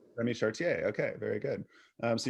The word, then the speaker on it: Chartier: say your last name anything's good the french way is fine is that it chartier yeah remy chartier okay very good um